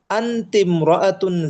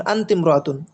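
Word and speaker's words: أنتِ امرأة: আনতমরাতুন জাকিয়াতুন জিদ্দান। তুমি একজন খুব মেধাবী মহিলা বা এখানে বুদ্ধিমতী শব্দটা ব্যবহার করতে পারি। তুমি একজন খুব বুদ্ধিমতী মহিলা। দেখুন আন্তিমরাতুন মূল উচ্চারণ ছিল কি?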